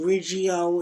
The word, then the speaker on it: Riggio: do you pronounce it Riggio or Riggio? Riggio, R-I-G-G-I-O, Riggio, okay.